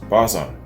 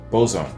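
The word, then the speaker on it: Bazan: the most interesting lyrically david uh bazon pronounced bozon okay david bozon who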